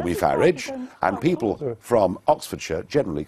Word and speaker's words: Farage: how to pronounce it I say farage farage yeah as I as I would say garage very well but thank